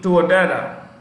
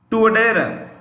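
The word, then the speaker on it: Touadéra: So right, Faustin Archange Touadera. Right, I'll spell it. Faustin. I repeat, Faustin hyphen AR capital A. I'll repeat, hyphen ARCHANGE. So Faustin Archange Touadera, Touadera, Touadera.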